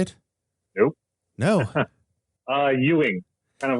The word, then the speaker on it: Ewing: So just think of Dallas or the basketball player, and you're good.